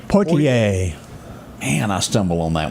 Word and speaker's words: Poitier: Sidney, and how do you pronounce that last name? Poitier.